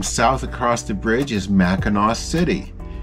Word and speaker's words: Mackinac: across the bridge is Mackinac City and yes it is spelled differently than the other mackinaws the bridge the island but it's all pronounced the same it was a cute